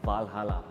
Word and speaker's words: Valhalla: with us, and this model is called a Aston Martin Valhalla. Is that the correct way to say it? That's correct, yeah.